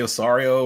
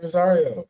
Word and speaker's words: Rosario: one guy uh Dante osario or whatever his name was did I say his name right oh yeah Dante Rosario was it Rosario yeah I remember him